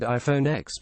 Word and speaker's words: iPhone X: iPhone 8 Plus, as well as the much-rumored iPhone X pronounced 10.